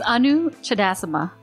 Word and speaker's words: Anu Chudasama: It's Anu Chudasama. And actually, my first name is Anuradha, but I just go by Anu because it's much easier. It is much easier. And I'm sure I've heard this before, but where does your name derive from? It's Indian. And people say it wrong all the time. People usually say Anu, which is, I accept, it's fine, because I accept it more than other variations of it.